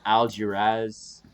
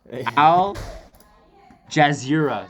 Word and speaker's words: Al Jazeera: done okay so uh here's an article from algiers sorry i totally mispronounced that anything al jazeera sorry i mispronounced that um but uh bubonic